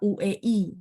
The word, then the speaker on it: hui: Nomor 22, hui. Nah, bacanya yang benar adalah uei, tapi tulisan pininnya hui. Tidak akan ada uei, nggak akan ada ya. Jadi ingat, oh bacanya uei, tapi tulisannya tetap ui ya, hui.